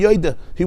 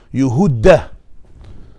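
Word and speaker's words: יְהוּדָה: Take Nehemiah, Yehuda is pronounced with a segel. Yehuda. By us in Chumash, in Parshas Vayechi, it's Yehudah. Over there it's Yehuda.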